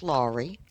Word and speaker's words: Lawrey: introduce yourself I'm lri it's actually pronounced lri lri okay La a w like law and